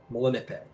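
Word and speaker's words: Melanippe: Uh and apparently it's pronounced uh Mulan. Malipe. So like nipple nip.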